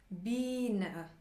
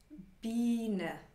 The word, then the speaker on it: Biene: I plus E ist ein langes I. I. Biene. Biene. Sieben.